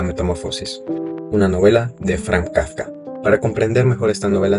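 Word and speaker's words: kavka: de palabras, puesto que Cuervo se pronuncia Kafka y bastante similar al apellido de la familia, Kafka.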